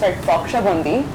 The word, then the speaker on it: Baksho Bondi: pronounced Baksha Bundi.